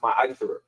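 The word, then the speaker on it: מעשר: means tenth in Hebrew, and it's pronounced ma'asher.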